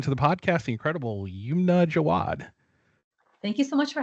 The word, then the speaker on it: Yumna Jawad: Please welcome to the podcast the incredible Yumna Jawad.